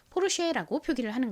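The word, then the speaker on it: Porsche: 독일 사람의 이름이잖아요 그러니까 영어식으로 읽는 것이 아니라 독일식으로 읽겠죠 그래서이 이름을 영어식다는 독일 식에 더 가깝게 읽어서 포르쉐라는 거 같습니다 자 이것을 미국 사람이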